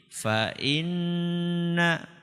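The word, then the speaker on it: فإنّ: tasydid itu namanya ghunnah cara bacanya gimana Ustaz agak ditahan agak di tahan fainna ya bukan langsung fainna bukan tapi fainna ya kita ulangi fainna maal Usri Yusro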